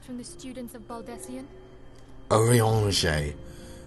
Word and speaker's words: Urianger: Urianger. Yeah, I definitely would have pronounced that incorrectly. I would have called him Uranga.